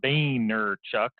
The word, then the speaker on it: Vaynerchuk: channel videos is Gary Vaynerchuk and as he pronounces it Boehner Chuck his his Gary Vee